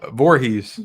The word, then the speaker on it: Voorhees: um Adam says Jason how do you say it boo I'm gonna let you finish no honey Voorhees Voorhees okay but why is there two o's Roar um because door door has two I guess yeah I